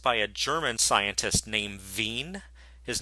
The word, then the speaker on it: Wien: this was noticed by a German scientist named vigne his name is spelled wi e in that we pronounce it vigne and what he noticed is that the wavelengths